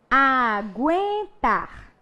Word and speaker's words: aguenta: Aguentar. Opa, GU apareceu de novo. Né? Agora eu troquei o GUI pelo GUE. Então, peraí. Respira. Pronúncia do U. Aguenta. Eu pronuncio U? Pronuncio.